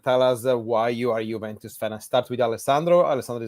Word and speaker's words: Juventus: reminder bye our weekly reminder on how you pronounce correctly the name of the old lady Juventus with the not with the no Juventus Juventus welcome again that's it mm I need